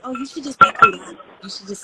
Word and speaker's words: Kouraj: So a lot of the times I'll hear the way it's properly pronounced, which is Kouraj.